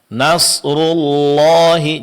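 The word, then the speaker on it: نصر الله: Nasrullahi jangan dibawa suara ke hidung ya, Pak ya.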